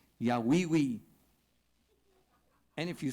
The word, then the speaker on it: Yahweh: it right, you have to say it right, Yahweh.